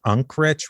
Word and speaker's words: Unkrich: How do you pronounce his last name? It's the director was Lee Unkrich, which is interesting because he directed Monsters, Inc.,